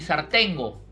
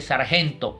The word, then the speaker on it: sargento: a la orden ni zar tengo y realmente lo que le respondí a pedro elías era no se dice es ar tengo se dice sargento y ellos respondían como